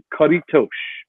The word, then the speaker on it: Caretos: to struggle with it karitosh and it's like a tush almost and what this game